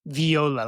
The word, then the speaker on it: Varia: And it's pronounced viola, like the instrument.